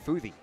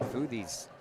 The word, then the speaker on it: Futhey: And that'll leave things up to Gabe Futhey. F-U-T-H-E-Y is how you spell it. I got that phonetically spelled too. Futh and E.